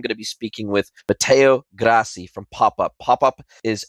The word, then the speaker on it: Matteo: guest for you today Matteo Grassi from pop-up Mateo awesome to have you along for the ride